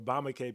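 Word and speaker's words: Bamileke: So I started with a Patriot test, and the Patriot test came back Bamaleke people or Bamake people, how it can be pronounced in French, of Cameroon.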